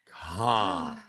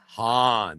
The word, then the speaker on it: Khan: Uh, pronounce Han with a breathy H instead of a hard K. Khan. Han.